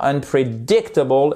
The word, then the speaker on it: unpredictable: début en bas et c'est un accent tonique secondaire ça veut dire qu'on appuie un petit peu là on prend une impulsion de départ unpredictable et pour bien assainer si je puis dire notre accentonique sur ici la trè syllabe puisque ce mot en comporte 5 vous n'oubliez pas que